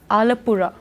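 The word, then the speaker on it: Alappuzha: का रहने वाला है अला पूजा हाउ ड you pronounce it अलपुरा अलपुरा अलपुरा ये एक और एडवाइजरी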